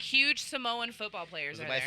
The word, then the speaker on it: Samoa: he make you say that new Samoa it's pronounced Samoa Samoa yeah yeah I think it's saoa no it's Samoa and um first saw time he saw a